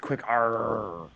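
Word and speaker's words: QUICR: I believe it is pronounced quick R.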